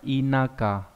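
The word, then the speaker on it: 田舎: Điền xá không đọc là đền xạ mà đọc là inaka, quen không?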